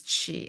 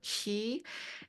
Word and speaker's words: Chi: be familiar with and it's spelled CH hii or Koreans and Japanese we sometimes use Ki or k apostrophe I but it means the same it's Chi or key and it means spirit